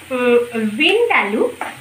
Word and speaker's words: ভিন্দালু: এটার মধ্যে আলুর সঙ্গে এর কোন যোগাযোগ নেই বিন্ড আলু বিন্ড আলু এইরকম প্রোনাউন্সিয়েশনটা ছিল সেটা ছিল মানে তোমার ভিনেগার ওয়াইন